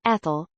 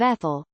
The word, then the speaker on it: Ethel: Maybe suggest that your ex think about it as the stress on the second syllable instead of the first, Ethel, instead of Ethel, because it's not up